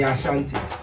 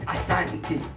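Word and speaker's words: Asante: are the ashantis in books you you hear the word ashanti is the same thing that britain couldn't pronounce uh our ways as my friend was trying to give me his remark called assanity but kingdom was bought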